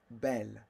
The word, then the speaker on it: belle: Belle. Like un bel homme, right? Idris Elba est un bel homme. Oh, yes, yes. He's a handsome man. And then for feminine, it's belle. Same pronunciation, different spelling.